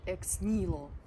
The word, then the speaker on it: Ex Nihilo: парфюм BL тасман от x nilo Обратите внимание произносится бренд как X nilo м Итак давайте делать